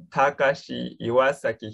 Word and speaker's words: Takashi Iwasaki: It's pronounced Takashi Iwasaki.